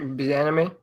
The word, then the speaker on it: Bieniemy: Tell me how to pronounce it. Eric Bieniemy.